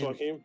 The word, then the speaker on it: Joaquin: Fucking Joaquin Phoenix and That's Joaquin.